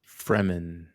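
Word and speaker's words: Fremen: Fman, Fman, Fman, sorry, not I I read that all the time and I always like Freeman." And it's like, "Oh, no. It's it's Fman."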